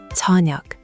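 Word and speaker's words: 저녁: The ta sound should be a bit softer. Choneug. Almost like you're saying ja at the start.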